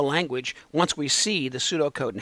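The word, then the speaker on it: pseudocode: do throughout the program, because I think in English they ought to write it the way it's pronounced. So rather than that pseudo stuff, we just call it Sudocode.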